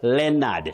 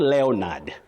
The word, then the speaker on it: Leonard: Just like Leonard not Leonard. The O in that name is silent.